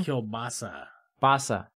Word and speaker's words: kielbasa: whoa whoa whoa did i say it wrong kielbasa kielbasa sausage yeah like uh yeah singular or